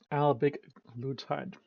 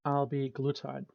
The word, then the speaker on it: albiglutide: 1.8 bring us to Alig glutide I actually mispronounced it it's Al glutide Al glutide or tanzium